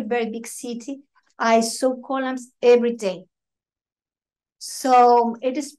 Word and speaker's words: Kolam: The word column, which is column, to be just on the right pronunciation, it's column. But it's easy for me as a Westerner to say column, means beauty.